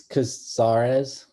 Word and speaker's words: Casarez: project Holmes Gloria casis kasis is that how you pronounce it Nick I think it's casarez casarez Gloria casarez residence this